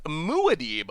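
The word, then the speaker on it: Muad'Dib: back to the fishbowl it is pronounced mu Adeeb o mu d that does sound better like the character from dune I've actually never seen dune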